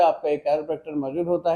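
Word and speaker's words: chiropractor: बहुत से लोग वाकिफ नहीं, इवन के लोग इसको सही प्रोनाउंस भी नहीं करते। The word is कैरोप्रैक्टर।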